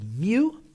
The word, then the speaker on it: mu: now this little greek u means it's it's pronounced mu mu all right and we've got positive five